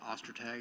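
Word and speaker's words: Ostertag: My name is Detective Ostag. That's spelled O S T E R T A G.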